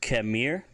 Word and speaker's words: kemir: If you want to say walk, it's kemir, spelled K-E-M-I-R, kemir.